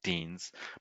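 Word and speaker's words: Dienes: in England have Deans, but they're not widely used.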